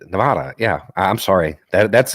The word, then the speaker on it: Nevada: The correct pronunciation of Nevada, literally Nevada.